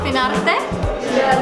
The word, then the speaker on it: Finarte: We're called Finarte, pronounced in a Finnish way.